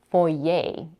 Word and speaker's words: foyer: wanted you to know how many Americans pronounce this word because if you hear foyer you might not even recognize the word even if you know it just because you didn't expect the word to be pronounced this way there are many more